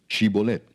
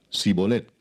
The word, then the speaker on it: Shibolet: Si él respondía: No, entonces le decían: Ahora pues di Shibolet. Y él decía Sibolet, porque no podía pronunciarlo correctamente. Entonces le echaban mano y le degollaban junto a los vados del Jordán.